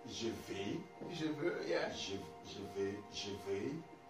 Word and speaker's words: je veux: Basically, you know, X here is not pronounced. You know, like I told you, some of the words like vous, S is not pronounced. Ple, the T is not pronounced. Je veux, it's supposed to be